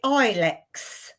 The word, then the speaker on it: Ilex: And it's called, I think you pronounce it ilex.